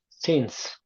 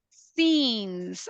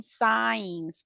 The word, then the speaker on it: since: What is the pronunciation of this word? Since. Since. I was listening, a couple of people saying signs.